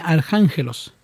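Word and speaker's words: ἀρχάγγελος: La palabra arcángel viene del griego y se pronuncia arcángelos y significa ángel principal o jefe de los ángeles.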